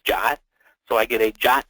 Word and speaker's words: JWT: a Json web token or called JWT which we pronounce jot so I get a